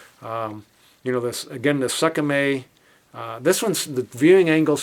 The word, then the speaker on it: SKMEI: It's made by Sakame s k m e i.